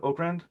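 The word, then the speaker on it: Okrand: Victor and Mark I'm gonna get his name wrong. Oakran Oakrand Oakran.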